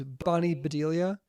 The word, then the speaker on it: Bonnie Bedelia: i think how you say her name is bonnie bedelia she plays holly gerardo maclean and she actually